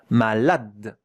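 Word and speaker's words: malade: Malad. The last letter that we hear is the d. Malad. Look at how to pronounce it. Malad. Two syllables.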